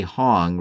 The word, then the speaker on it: Hong: When it does, at that point, rationally say, "Hong rhymes with tune."